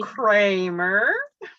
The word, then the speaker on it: Kreamer: So I butchered it. I'm sorry. and it's Kreamer or Kreamer. Kreamer.